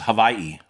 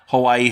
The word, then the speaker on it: Hawaii: people say also it's Hawaii right they pronounce it with a V I haven't I didn't